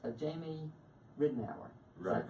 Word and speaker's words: Ridenhour: off the air about Jamie, but it's Jamie Ridenhour. Is that correct? Ridenhour.